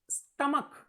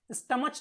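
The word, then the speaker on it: stomach: Examples देखिए, स्टमक। अब देखिए स्टमक प्रोनाउंसिएशन देखिए, स्टमक का, ओके, चा नहीं, स्टमच नहीं, स्टमक।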